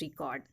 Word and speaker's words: record: देखें इनके जो करेक्ट प्रोनाउंसिएशन है, जब ये सेंटेंस में आते हैं, जब ये किसी भी सेंटेंस में आते हैं, जब ये वर्ब फॉर्म में होते हैं, तो इनका सेकंड सिलेबल वो स्ट्रेस्ड होगा, चाहे रिकॉर्ड हो या प्रोड्यूस हो।